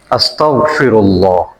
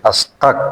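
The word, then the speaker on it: أستغفر الله: আপনার কাছে ক্ষমা চাই এখন বলতে গিয়ে আমরা এই তার এবং হয়েন হয়েনের জায়গায় আমরা কি করি কাফ এই যে এই শব্দটা আমরা বলে ফেলি আস্তাক বলে ফেলি নাউজুবিল্লাহ অনেকেই সবাই না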